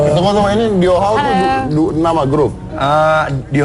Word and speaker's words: Dhyo Haw: Diau Hao, Diau- bacanya Hao, gimana? Diau Hao. Diau Hao. Dio How.